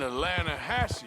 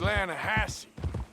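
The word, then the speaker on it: Lannahechee: runs right near here yeah but it's pronounced Lana hassy why is everything in English said differently than it's written make us feel stupid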